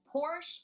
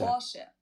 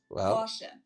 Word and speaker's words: Porsche: I've heard Americans pronounce it Porsche or Porsche. In German, we say Porsche. Porsche. So there's like this short a sound in the end. Porsche.